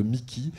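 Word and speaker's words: MICI: Alors quand on parle de Mickey, ça s'écrit M-I-C-I.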